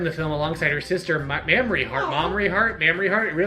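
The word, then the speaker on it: Mamrie: Grace hellig mamory heart mamory a m a m r i e like the glands no that's a mamoi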